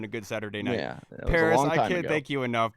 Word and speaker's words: Paras: me at underscore paris p-a-r-a-s it's pronounced like the city but spelled like the pokemon i was just about